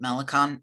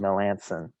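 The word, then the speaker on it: Melancon: huge fan of i i keep pronouncing the name wrong but malecon melissa melanson there you go i'm not a huge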